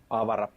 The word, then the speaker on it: Avara: This is the 20th anniversary of Avara, or Avara, or Avara, however you like to pronounce it. Avara. There you go. Spoken by a real-life Finnish person. The definitive. He knows what he's talking about.